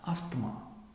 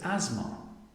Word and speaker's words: asthma: look at this word this might be mispronounced as asthma the great pronunciation of this word is asthma this one is not